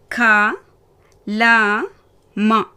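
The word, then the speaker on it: कलम: க ல ம. முதல் எழுத்து க, 2வது எழுத்து ல, 3வது எழுத்து மா. இதில் மா புள்ளி வைத்தாற்போல் படிக்கணும். இப்போ நான் வாசித்து காமிக்கிட்டா? க ல ம கலம்.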